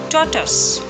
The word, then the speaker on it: tortoise: How will you pronounce this word? Tortoise? No, it's actually tortoise. Tortoise. In the first half, T-O-R, R is silent, and in the second half, it's simply tus. There is no use of O-I.